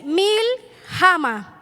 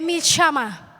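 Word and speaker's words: מלחמה: ver Señor me ayude se escribe así mil jama pero no se lee así se lee mil shama Cómo se dice a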